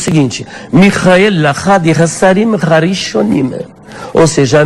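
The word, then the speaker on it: מיכאל: E tanto no grego quanto no hebraico a pronúncia é justamente esta. Michael, Michael. Michael, quando você faz a transliteração para a língua portuguesa, dá Micael e não Miguel.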